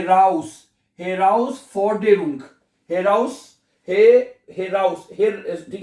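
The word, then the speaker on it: Herausforderung: हेराउस फॉरडेरुंग, ठीक है। जब इसमें यह खासियत है कि जर्मन जुबान को, इसलिए जर्मन जुबान प्रोनाउंसिएशन में आसान हो जाती है आसान हो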